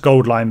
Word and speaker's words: Auline: from Gold Line uh it's pronounced Gold Line but they spell it Au line because Au is the chemical symbol for gold and we have a